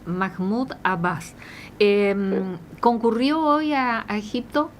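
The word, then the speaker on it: Mahmoud Abbas: Eh, ¿quién es eh Mahmud Abaj o cómo se pronuncie hoy?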